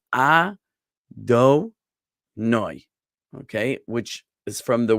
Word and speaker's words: Adonai: The name of God that we say in place of the tetragrammaton, this 4-letter name, is we say Adonai, okay, which is from the word Adon, meaning Lord or Master.